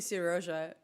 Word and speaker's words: Seryoja: Sorry, no, he's definitely Seryoja because he's Ukrainian, so this is the way to pronounce his name. But he uses J in his name, so Seryoja. And so if you decide to pronounce him on a Spanish style, that would be a Siroja.